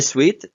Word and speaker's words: suite: be double or can be in suet a suite which is pronounced like the word Suite is a set